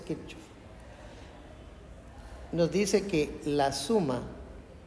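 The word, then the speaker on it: Kirchhoff: Kir con C H. Kirkof, si quieres traducirlo como se lee, pues Kirchov.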